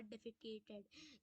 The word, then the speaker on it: defecated: Pronunciation अच्छे समझना, इसकी प्रोनाउंसिएशन अच्छे समझना, डेफिकेटेड, DEFECATED, डेफिकेटेड।